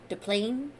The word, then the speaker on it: Des Plaines: Yeah, Des Plaines. I wanted to say, instead of, Des Moines, the S is silent. Des Plaines.